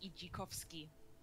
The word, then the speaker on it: Idzikowski: But yeah, the proper way to say my last name is Ijikowski. Oh, okay, okay. The Z makes more of a it's more of a G sound. The DZ together makes a J sound.